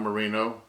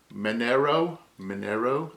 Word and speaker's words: Minero: Real Merino, not Merino, Minero, I guess is how it's pronounced.